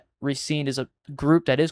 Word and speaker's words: RESCENE: That's the Korean pronunciation, so it's gonna be a little bit better. RESCENE is what I understand is correct.